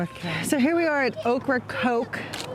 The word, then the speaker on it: Ocracoke: here we are at okra coke you pronounce it like the vegetable and the soda okra coke north carolina as the